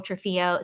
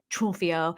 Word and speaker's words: Trunfio: on instagram at nicole trafio so it's and it's actually nick trumpio it's n-i-c-t-r-u-n-f-i-o and i know i keep ruining i don't say it like an italian at all i'm the worst with